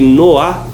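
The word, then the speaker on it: noix: de ovo de bife na França ele é chamado de Noa de entrecor e o noa na França se escreve noics com X então o brasileiro também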